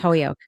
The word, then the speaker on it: Holyoke: Yeah. Holyoke. But it's pronounced Holyoke. Believe it or not, that's literally how they pronounce.